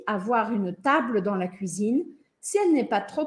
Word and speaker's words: cuisine: La cuisine. Cuisine. Cuisine. La cuisine. Tem que abrir esse biquinho, fazer o biquinho e depois abrir o sorriso, tá?